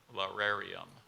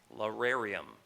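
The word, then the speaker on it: lararium: an ancient Roman home lar areum Laura reham law areum Laura reom in the origin of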